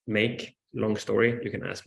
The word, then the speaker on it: MAQE: that I'm here representing so maqe pronounced make long story you can